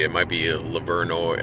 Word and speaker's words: Livernois: It might be Livernois. I don't know how they pronounce it, but I think it was Livernois and not Livernois.